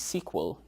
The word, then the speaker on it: SQL: Relational databases are also widely known as SQL, often pronounced sequel databases.